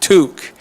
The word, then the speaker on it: toque: No, don't say toque. That might get you in trouble. What is it? Toque. Say it with a Canadian accent. Toque.